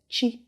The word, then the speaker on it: chi: c the next one after b is it's pronounced like that and the word i will use to describe this to this chi if you know the ibu people most of